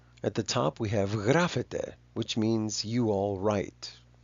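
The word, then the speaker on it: γράφεται: A lot of people, especially in Western countries, would say that the bottom one is pronounced grafetai. There's some argument there that's still going on. There's some disagreement about the pronunciation of the alpha iota. But in modern Greek, these are both pronounced grafete.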